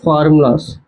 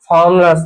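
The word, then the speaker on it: formulae: Integration ఫార్ములాస్, ఫార్ములే అంటారండి. ఫార్ములాస్ ని ఫార్ములే. we have to pronounce like ఫార్ములే. Okay, మనం pronounce చేయాలన్నమాట. ఫార్ములే అని ప్రొనౌన్స్ చేయాలి, అది ప్లూరల్ వర్డ్.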